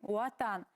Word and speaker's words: ватан: Но если встречается в начале слова в башкирских словах буква В, то звучит он как У. Например, ватан пишется, говорим уатан.